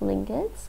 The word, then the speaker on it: lingot: I call it lingots, because it rhymes with the... I think they mean it to rhyme with the English word ingot.